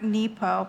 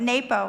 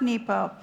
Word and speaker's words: Nepo: Listen by the brilliant poetic and deep Mark nepo and that is how you say his name